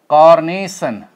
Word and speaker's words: carnation: okay they all have they all are Tri syllabic words okay and they all get stress on their they they all have their primary stress on second syllable second syllable okay second